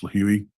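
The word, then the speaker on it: Lihue: And those purchases were made on March 13th, and they were round trip from Phoenix to LIH, which is, I believe it's pronounced Lahui, Hawaii, on the island of Kauai.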